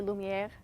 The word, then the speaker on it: Lumiere: And Lumiere. Mackenzie, how do you say it? How do you like to say it? I say Lumiere. With the little swan or thing.